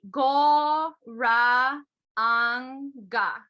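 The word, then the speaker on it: Gauranga: on the way down, then you say go ra anga. So it's 4 syllables.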